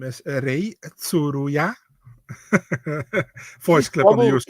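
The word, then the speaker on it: Rei Tsuruya: My name is Ray Tsuruya.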